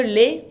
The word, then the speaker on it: lait: Le lait con una T final que no se pronuncia.